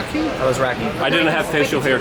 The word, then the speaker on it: Alazraki: Alazraki.